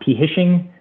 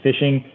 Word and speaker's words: phishing: right uh fishing uh it's not p hishing uh it is fishing ph spells you know sounding the uh you know sound right so you pronounce it fishing it's when you click